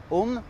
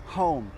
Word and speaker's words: home: Donc, vous n'allez pas dire home, vous allez dire home.